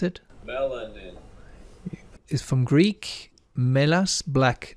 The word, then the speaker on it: melanin: Melanin, let's pronounce it. Melanin.